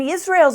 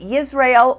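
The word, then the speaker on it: Yisrayl: changed their names to Israel which is pronounced like Israel with a Y and yakob which is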